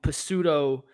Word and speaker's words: pseudo: And Stefanski started to use the screen game and some quick passes to get them involved in pseudo. I pronounced the P. I pronounced the silent P.